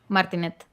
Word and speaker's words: Martinet: I can't pronounce the last name. Met the voice of Martinet, Mario. yes. How do you say? Martinet, Martinet.